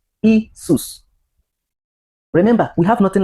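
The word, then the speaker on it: Iesus: So you can pronounce that currently as what? Isus. Isus.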